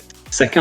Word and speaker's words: Saka: Bon, après, il s'est fait manger par Saka, hein, c'est comme ça qu'on prononce.